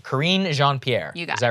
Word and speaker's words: Karine Jean-Pierre: Okay, correct my pronunciation. Karine Jean-Pierre.